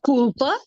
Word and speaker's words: culpa: A culpa é minha. A culpa. Culpa. See the way it is pronounced? Culpa. You roll the L. You know, in Portuguese, the L in the middle is usually rolled.